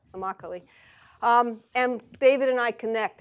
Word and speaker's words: Immokalee: tomato pickers inimical II he didn't tells me rhymes with broccoli Immokalee and David and I